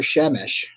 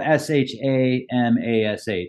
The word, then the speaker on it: Shamash: Well, is it Shamash or Shemesh? Because they basically mean the same thing, but they are different. Well, it's spelled S-H-A-M-A-S-H, Shamash.